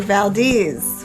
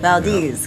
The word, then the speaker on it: Valdez: Headed to Valdez, which looks like it should say Valdez, but it's Valdez because that's how it's said here.